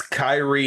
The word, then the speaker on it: Kyrie: everybody who follows basketball the way to pronounce my name is just like Kyrie Irving but I say no Irving got I got that